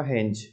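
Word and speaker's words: Heinz: इसका प्रोनाउंसिएशन होगा हेंज।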